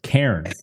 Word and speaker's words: cairn: I don't even think I pronounce it 2-syllable. I'm pretty sure it's cairn. Bam, one.